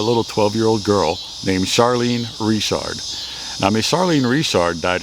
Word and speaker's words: Richard: So, situated here in the very small town of Richard, Louisiana, which is essentially the name Richard, but we call it Richard, or we pronounce it Richard down here, which is actually kind